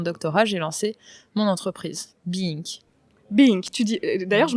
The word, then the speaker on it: Be-Ink: C'est une très bonne question parce que je l'écris Be-Ink, B-E-I-N-K, mais je le dis Be-Ink par rapidité, histoire de gagner une syllabe.